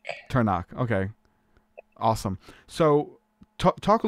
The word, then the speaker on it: Turnock: to get into that how do you say your last name for those people who are watching this yes turn on turn on okay awesome so talk